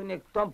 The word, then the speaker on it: нектон: Къде драпаш нагоре като нектон по реката? Викам какво се чудиш? Нектон. Водно животно, което плува на далечно разстояние, като преодолява силата на течението. Думата има гръцки произход. Тук на последната сричка е ударението.